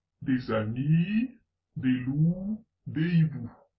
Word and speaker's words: hiboux: Des amis, des loups, des hiboux. Notez que hibou a deux lettres muettes, le H et le X.